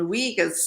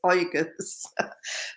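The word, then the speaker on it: Uyghurs: get my tongue around pronouncing wigas and then i was told no it's organs but um the turkic and and oigas are suffering uh beyond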